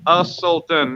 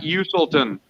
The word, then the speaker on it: Usselton: That's how you say his name. Usselton, not Uselton.